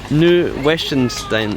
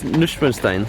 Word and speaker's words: Neuschwanstein: Neuschwanstein. No, it's not. Schloss Neuschwanstein. That's it.